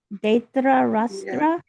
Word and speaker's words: Dhritarashtra: and there's a dot, there's an I there. So, Dhritarashtra Rashtra uvacha. uvacha. Okay. R I T A R A, Dhritarashtra uvacha.